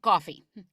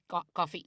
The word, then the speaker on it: Goffey: It's like coffee. Stuart Goffey. Goffey.